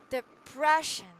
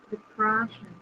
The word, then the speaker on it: depression: is already given right so depression if you're gonna say it the prayer depression depression depression the depression so the second syllable is stressed right the breath so